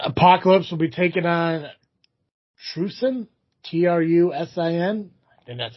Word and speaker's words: Trusin: got here uh apocalypse will be taking on trusin t-r-u-s-i-n and that's how you pronounce it for wrestling crucial eight championship match